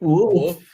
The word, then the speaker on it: wolf: I need some I'm sorry, but Kenny, are you not using the L in wolf? I mean, it's it's a subtle L. Wolf.